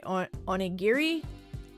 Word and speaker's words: onigiri: Oh, more of a hard G. Okay, onigiri.